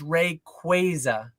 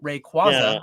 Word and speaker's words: Rayquaza: They did they did a list of like often mispronounced Pokemon and it's it's Ray Quaza.